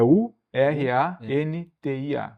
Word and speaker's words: Urantia: Como é que se escreve? Até para mim escrever aqui. Urantia mesmo, como se fala, é U R A N T I A, Urantia.